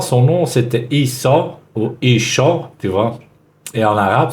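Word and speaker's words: ܝܫܘܥ: And when we hear them pronounce the name of Jesus, it's not pronounced Yeshua, but it's pronounced Isho.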